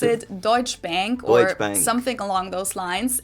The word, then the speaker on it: Deutsche Bank: English native speakers usually pronounce it Schwarzkopf or Schwarzkopf or something along those lines. Deutsche Bank is the largest bank in Germany.